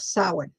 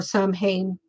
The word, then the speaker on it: Samhain: And then we have Samhain or Samhain, however you choose to pronounce it.